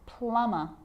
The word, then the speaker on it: plumber: lamb thumb dumb and plumber so practice them with me I'm not pronouncing the B I'm just pronouncing the M consonant sound climb Krum lam some